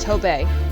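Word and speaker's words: Tobaye: So you don't pronounce the E. So it's just Tobe.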